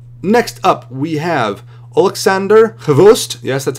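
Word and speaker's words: XBOCT: Next up, we have Oleksandr Khvost, yes, that's how you pronounce that, Dashkevich, this gentleman right here.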